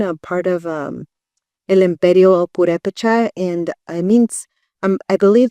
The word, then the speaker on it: Purépecha: I also paint a lot of our traditional flag, the purépechas, and even painting that is such an honor that I'm able to do. And I tried to pronounce that word. Purépecha?